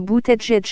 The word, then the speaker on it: Buttigieg: Buttigieg prononcé Buttigieg a fait son coming out en tant qu'homosexuel à 33 ans et a épousé son compagnon chaste en juin 2018.